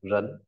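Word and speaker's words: 人: Và à, tiếp theo bộ nhân phẩy và mác đọc là rấn.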